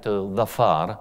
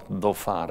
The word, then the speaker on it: Dhofar: the biggest one, Ashhar, and Dhafar, or Dhofar as it is usually pronounced.